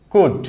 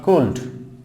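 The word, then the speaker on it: could: তারপর হচ্ছে কুড নট কুল্ড, কুড।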